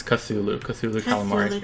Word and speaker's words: Cthulhu: Not so- Cthulhu, which is how I used to say it. It's Cthulhu. Cthulhu Calamari. Cthulhu It's Calamari. a really good name, that. Cthulhu Calamari.